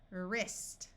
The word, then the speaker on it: wrist: this should be WR WR at the start of a root the W will be silent so this sound is r ER wrist wrist wreck we can